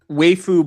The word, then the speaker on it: waifu: Yeah, it's pronounced waifu.